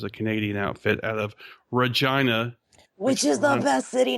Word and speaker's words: Regina: I was on Brainstorm Podcast, which is a Canadian outfit out of Regina, which is the best city name ever. Yeah, it rhymes with vagina, the weirdest way.